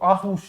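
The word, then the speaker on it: Aarhus: Denmark में भी पूछे कि मतलब कौन सा क्षेत्र, तो आहुस, ठीक है, आहुस आता है, मतलब र आता है बीच में, ऐसे पढ़ा जाए तो, लेकिन वो साइलेंट है।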